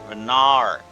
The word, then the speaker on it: Vanar: I keep pronouncing it like Star Mommy's name. I'm not trying to do that. It's Vanar. Vanar.